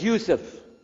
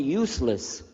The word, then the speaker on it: Yusuf: work on it sh my name is Yousef can you say Yousef you say Yousef you're very good I wish you'd teach my wife she keeps mispronouncing it she calls me useless alhamdulillah now how many